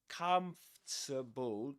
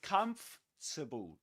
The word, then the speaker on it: comfortable: So, in the word comfortable, comfortable, there is an a letter R. Okay. But you don't pronounce it. You just say com. Comfort. Forget about the this this thing. This o r. Just forget about that. Okay. You say comable.